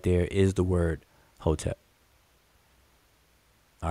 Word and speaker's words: hotep: and we pronounce it whole tap with an o and an e in between the consonants but but um conventionally